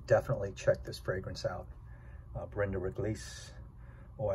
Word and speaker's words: Brin de Réglisse: check this fragrance out brenda riglise or as the french pronounce it van der redlace and it's not a